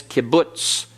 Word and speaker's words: kibbutz: We call this kibbutz. Kibbutz. And that sound is not a full sound. And it's a short U.